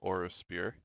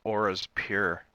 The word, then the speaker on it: Auraspure: world of oros spear I thought it was oras pure orus pure I been mispronouncing this this entire time I mean you mispronounced